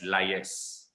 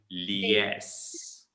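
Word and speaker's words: liaise: that know this word will pronounce it as lias all right isma's you liars with the client directly okay lias it's not liars it's actually yes it's yes okay yes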